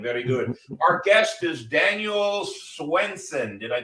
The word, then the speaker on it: Daniel Swenson: way from Michigan very good Our Guest is Daniel Swenson did I pronounce it right yes you did very good